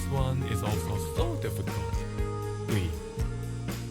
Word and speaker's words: ㅢ: "ㅢ". Think of it as "ㅡ" plus "ㅣ". Go from "ㅡ" to "ㅣ" and pronounce it as one syllable.